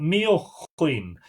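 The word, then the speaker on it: Miodhchaoin: I would pronounce that Mio Chuin.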